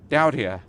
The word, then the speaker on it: Daudia: I'm here with Davide and Claudia, who are collectively known as Daudia. Have I pronounced that correctly?